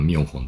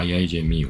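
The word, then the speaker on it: IIJmio: どは IIJ ミオこれ普通に読むと IIJ ミオなんですけどまミオホンていうなんかミオホンて読み方あってるのか IIJ ミオって読むんですよねそう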